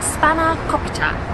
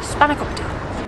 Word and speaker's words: spanakopita: So this is spanakopita, my best Greek pronunciation, and it is essentially a phyllo pie.